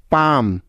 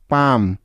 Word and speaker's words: palm: Next, M এর আগে এল সাইলেন্টের কিছু উদাহরণ, যেমন কাম, CALM, কাম, পাম, PALM, পাম, বাম, BALM, বাম।